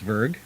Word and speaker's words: Zwerg: later on tonight's show zwerg or if we pronounced it properly with the right german accent we'd probably say it's verg swag no the w would be more v-ish try it one more